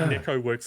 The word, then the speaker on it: Neko.works: And not like Neko Works the other day when specifically on their website they said Neko.works, you pronounce the dot.